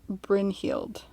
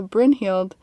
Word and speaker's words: Brynhild: story a little bit and her name is bryn heeld hmm that's a pretty name yeah brynn for